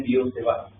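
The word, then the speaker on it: Biot–Savart: इसको Biot सेवर्ट ऐसा नहीं कहते हैं, यूरोपियन नेम है, मैंने आगे बोला काफी सारे प्रोनाउंसिएशन अलग होते हैं। इसको कहते हैं बियो सेवा। ठीक है, बियो सेवा लॉ।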